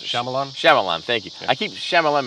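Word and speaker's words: Shyamalan: out uh M night um how do you pronounce it shamalan shamalan thank you I keep shalam and dingdong that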